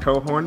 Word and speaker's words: Cochran: prayer this is Emily cohorn and you're probably seeing her name pop up on the screen and no I did say it right it is pronounced cohorn but spelled Cochran but we are so